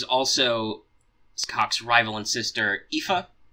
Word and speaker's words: Aoife: And there's also Scathach's rival and sister, Aoife, and yes, that is how you say that.